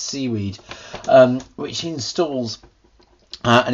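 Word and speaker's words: cwiid: library called CWI ID which I guess is pronounced seaweed which installs and it's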